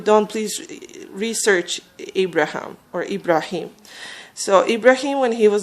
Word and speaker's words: Ibrahim: And so Abraham, or Ibrahim is his Arabic the way his name is pronounced originally in Arabic, Ibrahim or Abraham or Avram, as some Jewish people call him.